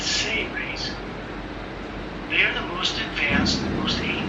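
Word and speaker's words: Seras: Beings like Terrellian, Ambassador Terrellian, is the ambassador of the Say race, S-E-R-A-S, but it's pronounced as if it was spelled S-A-Y-R-A-Y-S, Say race.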